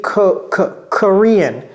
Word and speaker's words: Korean: Et ça se prononce quoi? Korean. Et vous voyez, j'ai pas dit Korean. J'ai dit Korean.